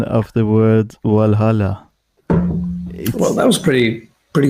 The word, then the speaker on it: Valhalla: also say but but i think the right pronunciation in english would be well valhalla this is a danish way is the right way let's see that's my